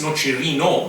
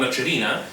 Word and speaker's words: Nocerino: It's Nocerino, not Nocerina.